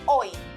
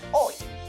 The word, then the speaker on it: hoy: Pronounce it with me. O-I, ol, I, hoy. Now, that sure sounds like a common word in Spanish. Do you remember how do you say today in Spanish? Yes, hoy.